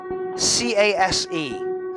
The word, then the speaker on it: Case: This is from the Darren Cole camp, and I believe they're called CASE. Case. Yeah. I was going to say Chase, and it just didn't fit right with me, and then, oh, fuck it, I'll spell it.